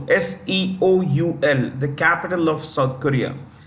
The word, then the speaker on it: Seoul: you see here that Seoul s-e-o-u-l the capital of South Korea Seoul the E is silent yeah so it's North